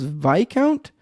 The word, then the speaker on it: Viscount: 100 100 100% uh Viscount equals VI count okay so that's a pronunciation